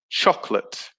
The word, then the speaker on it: chocolate: government number three chocolate so it only has two syllables so the middle o disappears it becomes chocolate so yeah the o